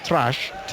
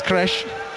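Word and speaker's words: Träsch: By the way, the player who was substituted, the spelling is Trasch, and I thought that was Trash, but it's not, it's Kresh. Well, it's been trash anyway, so listen. So we did check out the pronunciation with a German commentator.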